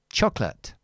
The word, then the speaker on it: chocolate: Like for example, chocola No, this is the stressed syllable. This is the schwa. Eliminate it because we have the L. Chocolate. Chocolate.